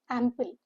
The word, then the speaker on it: ample: Ample, the stress is on the first syllable. The pronunciation says it is AM with a stress and pul, P-U-L, P-U-L, ample.